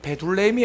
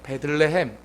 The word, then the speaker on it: 베들레헴: 이거 발음 잘 하셔야 되는, 베둘레헴이 아니에요. 베들레헴. 예?